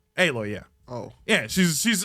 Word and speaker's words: Aloy: for no damn reason that's how you pronounce her name aloy yeah oh yeah she's